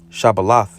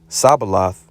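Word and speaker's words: shibboleth: fact they were required to pronounce the word shabbalah and and if they pronounced it or if they called it sabalath were slain without further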